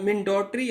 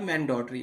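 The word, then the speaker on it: mandatory: Next word is मिंडोटरी और मैंडोटरी। British इसको मिंडोटरी कहते हैं और अमेरिकन इसको मैंडेटरी बोलते हैं।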